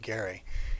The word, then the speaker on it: Gerry: his name is Garret last name is pronounced Gary and he was the